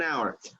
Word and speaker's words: hour: Okay, letter H is silent. You do not pronounce it. Half an hour.